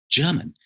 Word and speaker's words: Gherman: Yuri Gagarin, Gherman or German Titov. It's actually, we spell it Gherman, but it's still German.